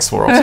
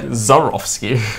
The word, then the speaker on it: Swarovski: He just mispronounced Swarovski. It didn't sound anything like Swarovski. It was like Zarovsky.